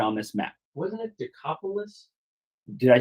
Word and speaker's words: Decapolis: this map wasn't it decopolis did I say it wrong what did I say you're saying the Apocalypse oh I'm it's Deca polis 10 cities yeah whatever you were